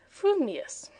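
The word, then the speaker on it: frumious: If your thoughts incline ever so little towards fuming, you will say fuming, furious. If they turn by even a hair's breath towards furious, you will say furious, fuming. But if you have the rarest of gifts, a perfectly balanced mind, you will say fumius.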